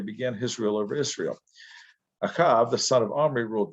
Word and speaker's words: Ahab: buried in shomron and akav his son became king in his place acab or ahab as it's pronounced in english or transliterated is who we're talking